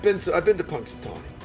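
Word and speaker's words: Punxsutawney: ] I've been to I've been to Punksatonyi. It's a nice place, but their groundhog can off. You know what? How do you pronounce that? Punksatonyi.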